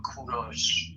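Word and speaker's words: کوروش: English people call him Cyrus. But in Persian we call him Kuros.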